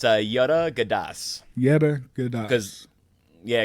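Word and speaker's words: Georgantas: pronounced in greek it's yoda gadas yogurt um say it again so it's a yoda gadas because yeah because the g's like a gyro it's like it's got the yeah so it's yoda gadas it's how it's technically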